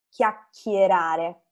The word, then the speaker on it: chiacchierare: passato del verbo chiacchierare chiacchierare so che è un verbo un po difficile da pronunciare no chi a girare perché c'è il suono duro della c seguita dalla h quindi chi chi a schierare poi la parola virtualmente